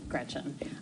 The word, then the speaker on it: Gretch: named after my grandma Gretchen, who I adore. It's funny though, because she always said, never let anyone shorten your name. Don't let people call you Gretch, because it rhymes with wretch.